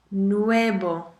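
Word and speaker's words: nuevo: pronounce this word n u e v o nuebo how do you pronounce this word v a l e n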